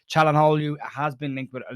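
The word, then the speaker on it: Çalhanoğlu: We'll start off with rumor mill, I suppose, and Hakan Calhanoglu. I really struggle to say his name. It's the G in the middle that you don't pronounce.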